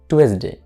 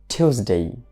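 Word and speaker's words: Tuesday: আমরা এটা স্বাভাবিকভাবে উচ্চারণ করতাম টুয়েসডে, টুয়েসডে, কিন্তু টুয়েসডে না বলে আমরা কি বলবো? টিউসডে, টিউসডে।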